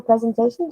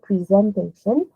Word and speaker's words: presentation: You have to give a presentation to your class. Please do not say presentation. Okay? The correct pronunciation is presentation. No, it is actually the third stress.